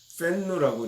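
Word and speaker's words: 愤怒: 그래서 제가 옆에서 묻기를 야, 내가 분노를 연구하는 사람인데 중국에서는 분노를 뭐라고 이야기하느냐라고 그랬더니 팬누라고 이렇게 이야기를 합니다. 팬누. 아마 이제 우리가 알고 있는 한자를 그네들 식으로 팬누라고 이렇게 발음을 한 건데 추가적으로 그 학생이 저한테 얘기해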